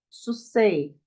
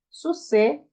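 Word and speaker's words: סוסי: Não vai pronunciar susei, porque o iod no final de uma palavra, ou um iod, né? Após um serê, ele é mudo. Serê, seguido de yud, o yud é mudo.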